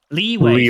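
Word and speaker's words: Liyue: I don't know how you pronounce that Genshin song. Leeway.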